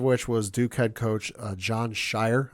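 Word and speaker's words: Jon Scheyer: was Duke head coach John Shire I believe is how you say his name yes uh he said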